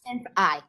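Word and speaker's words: SynthEyes: for tracking artists, tracking and layout, I use Synthize a lot. I learned what's that called, Michael? Synthize. How can you spell it? It's SYNTHESEYE. Synthize. Oh, Synthize.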